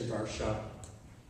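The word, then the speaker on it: Warszawa: it's far shouting because in Polish you pronounce the w like a V so instead of saying Warsaw you would say darshan my grandparents who are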